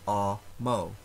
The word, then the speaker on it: amo: follows very regular rules if a word has two syllables it is always the first syllable that is stressed so amo i love is pronounced ah mo for longer words the